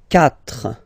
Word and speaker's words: quatre: Quatre. Quatre. Okay? So remember that even if you get this u vowel here, basically you don't pronounce it, because that's the rule in French.